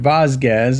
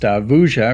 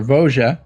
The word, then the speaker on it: Vosges: Alright, so we can see there what looks like Vosges, although it's pronounced Vosges or Vosges.